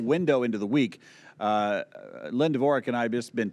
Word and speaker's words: Dvorak: Well, it's Dvorak. Dvorak.